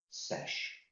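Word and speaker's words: sech: over cos squared is, it's almost like sec, but again we put a h on the end to indicate it's hyperbolic, and that becomes, and I pronounce it sesh squared x.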